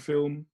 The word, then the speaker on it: film: She used to say flim instead of film.